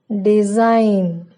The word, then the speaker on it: design: The letter G is not pronounced if a word ends in GN. For example, design, foreign, sign, campaign.